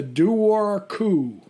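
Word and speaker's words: Dobhar-chú: it sounds super cool okay it's called the do War coup Ling do War coup okay which I guess in Gaelic is spelled d-o-b-h-a-r-c-h-u okay and this uh a lot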